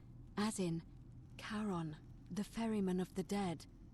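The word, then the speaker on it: Charon: The name you heard wasn't Karen. It was C H A R O N. As in Karon, the fairyman of the dead.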